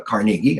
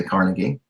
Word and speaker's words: Carnegie: is D I mean Andrew carnegi I'm going to pronounce it the way they did back then some of them say Carnegie you know if people